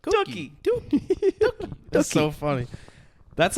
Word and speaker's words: Dookie: It probably Dookie. Dookie. Why'd you I've say never it like heard that? someone pronounce What it Dookie.